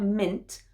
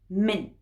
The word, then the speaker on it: mint: it's informal it's slang i'd always use a glottal stop at the end for the t sound so not mint but mine if you want to